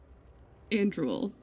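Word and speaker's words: Andruil: Andruel. It's like and rule. Andruel. And drool. And drool, yeah. That's what they're saying.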